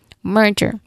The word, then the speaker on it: merger: Pronunciation wise, the focus is on mer right on the first syllable. Mer, it sounds like merchant or there are. So, you pronounce clearly the letter R sound here. Merger. J is the same. There's a J letter J sound here like the J in jump or Jerry.